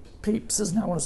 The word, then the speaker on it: Pepys: Samuel, I always get his name wrong. Pepys, isn't it? I want to say Pepys, but Pepys, who I think attended St Paul's Cathedral when there were like 17 people there.